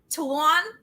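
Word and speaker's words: Salaün: Tidjane Salaun. Oh, I heard that one. I heard it and I was like, how do you say that? Tidjane No, it's Tuan.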